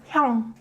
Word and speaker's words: 형: But when 이응 is in 받침, it produces 응 sound. So 형.